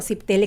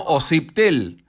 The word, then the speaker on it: Osiptel: la sabe pronunciar bien la gente suele decir sitel sí y no osiptel no y lo que pasa es que fonéticamente el s la s con la p no existe el idioma castellano esa combinación en